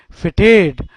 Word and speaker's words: fete: To be feted, that means bestowed honor or rewards upon, FETE. Of course, fete simply means also celebration, fete, that's how we pronounce it.